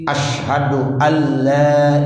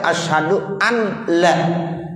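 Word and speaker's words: أشهد ألا: Syaddah dalam ashadu alla ilaha adalah satu, pada lam alif. Itu ada di lam alif. Hal ini karena idgham bila ghunnah. Ashadu alla, seperti itu. Ashadu alla. Kita tidak boleh membacanya sebagai ashadu an la.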